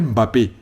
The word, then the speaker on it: Mbappé: m'énerve il s'appelle pas Mbappé il faut bien prononcer les noms des gens il s'appelle Mbappé Mbappé monsieur trois but c'est c'est le même